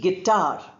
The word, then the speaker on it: guitar: Similarly guitar. G e sound is there but u sound is not there.